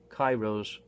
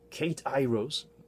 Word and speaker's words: k8iros: of the hotly anticipated Cairo's mark - it's spelled with an 8 in the middle but you're not supposed to spell it like a Kate I rose it's just Spencer dim-witted